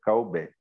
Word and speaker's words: Calbet: Meu nome cósmico é Calbet, né? T no final, né? Caubette.